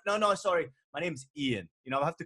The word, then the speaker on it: Ian: They basically came up with Ian, but pronounced E-Y-E-A-N. Yeah, I was never Ian. I was always Ian.